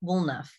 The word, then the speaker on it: Woolnough: is a mouthful uh my last name is pronounced woolnuff like enough wool to make a jumper can you tell i